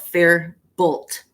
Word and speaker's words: Faribault: f-a-r-i-b-a-u-l there's a um it's spelled fair bolt f-a-r-i not i-r-f-a-r-i french name farable yeah there's a million